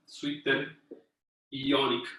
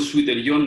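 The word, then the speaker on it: zwitterion: Es una palabra alemana. Ahora, si ustedes escriben Suiter-Ion, nunca la he escrito en español. Es como suéter-ion, pero nunca la he visto en español.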